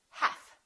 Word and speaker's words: half: talk could would should silent L half we don't say heal we say half silent te the silent